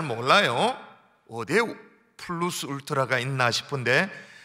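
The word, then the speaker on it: plus: 플루스 울트라라는 말을 살펴봤습니다. 플루스는 라틴어인데 그냥 우리가 쉽게 발음하는 플러스라고 발음해도 틀리지 않아요.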